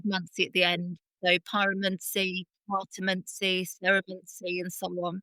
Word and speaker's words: pyromancy: Am I pronouncing that correctly? Is it pyromancy? It's pyromancy.